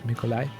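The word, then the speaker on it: Mikołaj: captain it's Haron mikolai I think it's how you say his name more or less mikolai yes call uh to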